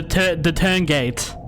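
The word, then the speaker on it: Tuurngait: Okay, so it's called it's pronounced the Turngate.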